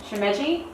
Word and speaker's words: Shimeji: Shimeji. I was way off. Anyways, Mushroom. it's spelled S-H-I-M-E-J-I.